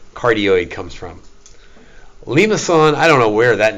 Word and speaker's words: limaçon: What's the name of the C that has the little hooky thing on the? I don't know. But it's pronounced sort of like an S. So it's a limaçon, right? It's not limacon, right? It wasn't a Texan that discovered these. It was a Frenchman.